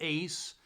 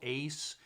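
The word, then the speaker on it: Uys: So Riding the Rails, Michael Ace, and it's actually spelled U-Y-S, but it's pronounced Ace according to Wikipedia.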